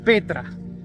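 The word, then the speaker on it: πέτρα: piedra es igual es la 4073 que se pronuncia Petra que es roca grande el señor Jesucristo le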